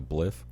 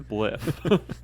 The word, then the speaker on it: spliff: which was weird because like I would just see people smoking a bliff. It's pronounced spliff.